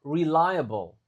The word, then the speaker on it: reliable: findings will be more reliable will be more. Nah, ini mungkin susah. Reliable. Relier. L. Tulisannya liya tapi cara bacanya lie. Di layar. Nah, dan kalau ada blecanya bukan ble ya, tapi malah bel.